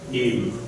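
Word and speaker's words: עם: So this is the ayin. The ayin is one of the two silent letters. We have two silent letters. The aleph, which is this first letter here, and the ayin, where's my ayin at? Right here. Okay? So this one and this one are silent.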